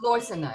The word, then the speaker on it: Losina: last name is it lucina it's leucina it's accent on the first syllable but it works either way uh uh i cannot